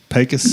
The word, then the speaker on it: Pecos: You're saying it wrong. Like it's Pecos. Pecos. Yep, that's correct.